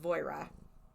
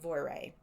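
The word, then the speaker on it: Voirrey: And 3 different podcasts pronounced it 3 different ways. Okay. So, last podcast on the left called her Voira. Okay. M called her Voiri because that's like phonetically how it looks. Okay. And Dark History said Voire. And he's actually English, so he probably is correct. Okay. So anyway, Voire.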